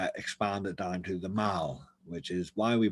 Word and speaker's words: Mall: he decided to expand it down to the mall which is why we pronounce these words instead of maul like a very american term but a lot